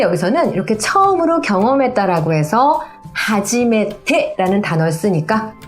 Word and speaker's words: はじめて: 하지메테라고 하는 거예요. 자 우선 여기만 한번 발음해 보세요.